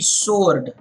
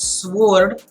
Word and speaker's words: sword: SW Ord is actually sword imagine the W is not there W silent just like spelling of right WRI te you don't say right so similarly it's not sward it is sword the